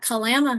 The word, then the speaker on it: Kalama: I am at Kalama High School.